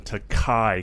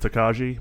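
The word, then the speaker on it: Tokaji: a blend of straight rye whiskey finished in takai cast if you were to look at it it looks like it would be pronounced takaji but uh it's a Hungarian wine cask and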